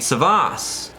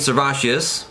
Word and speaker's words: Servatius: atop the grave of Saint Servatius, or Saint Servatius, I'll use the Dutch pronunciation here.